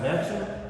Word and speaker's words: Melchum: It's pronounced Melchum.